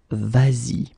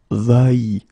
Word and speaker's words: vas-y: to modify it and put this S here just to get the sound vas-y instead of va-y.